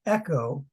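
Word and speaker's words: ἔχω: like Lego yeah and this one Echo is e c h oh right just like Echo you know a sound you know it's an echo but means I have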